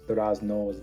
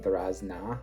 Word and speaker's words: durazno: I'm used to learning Russian where when there's like a O sound at the end of a word, it's often an A. So I'm saying durazna instead of durazno just because I'm kind of used to that in Russian.